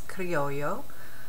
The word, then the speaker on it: criollo: And they have Spanish names, so I'm going to try not to butcher it, but it's criollo. The double L is usually pronounced as a Y.